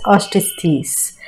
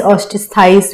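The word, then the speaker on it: Osteichthyes: Pisces में है कॉन्ड्रिस्थीस, ऑस्टिस्थीस, कॉन्ड्रिस्थाइस, ऑस्टिस्थाइस भी बोल सकते हैं, प्रोनाउंसिएशन हम लोगों पे है।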